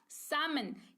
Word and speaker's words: salmon: सामन। क्योंकि एल जो है वो क्या है? एल को तो हमने भूल गए, हमने है ना, एल को हमने साइलेंट देखा क्योंकि यहाँ पर रूल एल फॉलो कर रहा है।